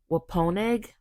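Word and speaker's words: Wampanoag: And this is when I am not going to pronounce this name correctly, but I think it's pronounced Waponeg warriors.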